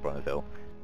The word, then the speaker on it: Bonneville: It's based off the Bonneville, I think it's called, pronounced Bonneville, Salt Flats.